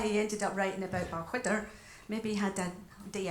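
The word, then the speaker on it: Balquhidder: So the next number is actually taking us to Stirlingshire, which is where Balchwydder is, spelt with a Q-U-H, surprisingly.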